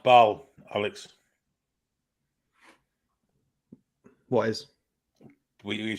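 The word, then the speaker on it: Bâle: It's pronounced Bal, Alex. What is? You said it was Basel or Basel.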